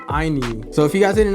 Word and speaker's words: INIU: called the cougar p63 by a company called Inu so if you guys didn't know how to pronounce it before it's called IU like I wish I knew about Inu before